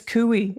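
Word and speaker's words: Couy: for you not surprising cui rhymes with louie gomer i'm just saying and there's some dumb people hey hey hey there how how stupid my name is kui it rhymes with louie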